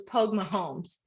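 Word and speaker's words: póg mo thóin: like three times and the way you say it is my van it's Pogue mahome Pogue with home have the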